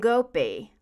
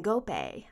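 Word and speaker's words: Ngoepe: cool one gift and go P can go pay I think it's pronounced from the Toronto Blue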